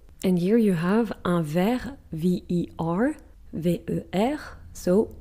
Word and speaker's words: ver: But it's with a T at the end, we just don't pronounce it. And then you have a glass, un verre, but it's V-E-R-R-E.